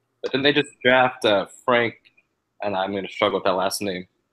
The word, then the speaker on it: Frank: But then they just draft Frank, and I'm going to struggle with that last name.